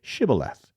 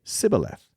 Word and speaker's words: Shibboleth: If the man said, "No, I am not," they would tell him to say, "Shibboleth." If he was from Ephraim, he would say, "Sibboleth," because people from Ephraim cannot pronounce the word correctly.